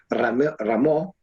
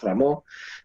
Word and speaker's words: Rameau: Lully en Francia, Rameau, Rameau se escribe, ¿no? En francés, Rameau también.